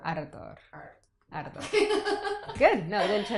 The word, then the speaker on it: Ardor: Sorry, I can never pronounce That's okay. it. Dolce. Dolce. Very good. Adore. Ardor.